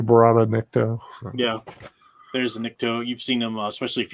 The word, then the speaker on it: Nikto: Tom Spiegel's asking about the Niktos. Nikto, I might be pronouncing it slightly wrong. I think it's Nikto.